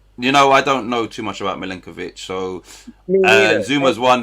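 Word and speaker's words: Milenković: Milenkovic. That's it. Lenk. I'll just remember Lenk. Milenkovic. Would you have Milenkovic or Zuma? Me, I'd have Zuma personally. Right. I don't know too much about Milenkovic.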